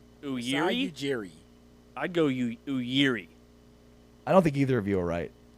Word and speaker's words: Masai Ujiri: I'm pretty sure Masai is right. Masai is definitely right. Masai Ujiri.